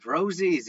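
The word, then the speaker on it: rosé: was like is it Rosie's it you know Rose is the how do you say it and she corrected me and said it's Rosie like wine and I'm like okay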